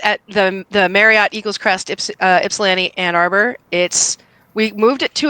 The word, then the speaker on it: Ypsilanti: So I live in Detroit, and the festival is over here in Ypsilanti, which is not pronounced Ysplanti.